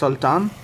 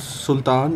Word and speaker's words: Saltan: called the tale of tsar saltan it's not sultan it's Sultan so as you can